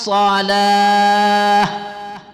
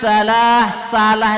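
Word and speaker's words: الصلاة: Hayya 'alas shalah ya. Marilah menunaikan salat. Tapi kalau kita baca hayya 'alas salah itu artinya keranjang. Tentu maknanya jauh ya, jauh sekali daripada harapan kita.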